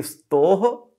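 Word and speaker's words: स्तोः: तो अगर आपने इसे स्तो पढ़ दिया तो गलत हो गया। इसे हम पढ़ेंगे स्तोह शुचना शुचुः।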